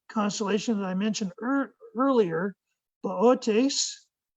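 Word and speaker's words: Boötes: is the other constellation that I mentioned earlier boat ace right here and if you don't if you have trouble pronouncing a word like that with the moon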